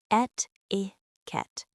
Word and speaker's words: etiquette: Pronounced et-i-ket. The word comes from French and was originally used